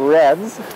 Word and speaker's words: redd: These nests are called reds. That's spelled R-E-D-D, which I believe is from the Gaelic meaning clean.